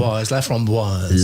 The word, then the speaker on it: Laframboise: Our first guest is Donna Laframboise, to give the proper French pronunciation. Laframboise.